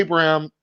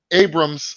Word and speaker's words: Abrams: uh scheduled for right now I'm about JJ Abram Abrams so I always say his last name wrong Oh justice Justice League dark that they